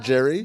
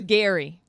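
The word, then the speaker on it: Gerry: g r r y and it's scary not Jerry Gary but pronounced in The Hollywood Reporter article they phonetically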